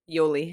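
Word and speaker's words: Yoly: when they were with Jolie it's like they looked like they were having a good time it's you'll leave it I always say her name wrong what is it Yoli Yoli um but I didn't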